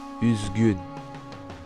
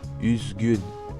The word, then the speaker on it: üzgün: Le U tréma se prononce U, comme dans le mot üzgün, üzgün, triste.